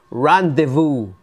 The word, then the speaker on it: rendezvous: This is pronounced rendezvous, Randy Santiago, ay mali. Rendezvous. Pag sinabing rendezvous, what's that? To rendezvous, it's a French word that became adapted to English American, yung rendezvous is a